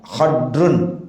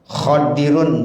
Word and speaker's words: Khidr: nabi Allah Bapa saudara bisa dibaca 3 ya khodrun boleh khodirun boleh khidrun juga boleh jadi boleh tiga bacanya Nah kalau kita biasanya